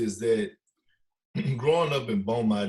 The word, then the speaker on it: Beaumont: you grew up in beaumont is that how you pronounce it nope beaumont texas beaumont texas and you